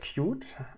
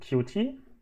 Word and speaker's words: Qt: have a library called cute um QT um so you can pronounce it cute or QT uh both is possible it's uh also a